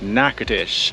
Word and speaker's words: Natchitoches: It is pronounced Natchitoches.